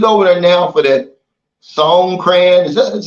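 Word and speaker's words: Songkran: some videos he's over there now for that song crayon that's how you pronounce it Festival in Thailand man and he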